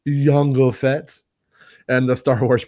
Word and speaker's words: Jango: who portrayed fett's father django or yongo if you uh want to say it correctly yango fett and the star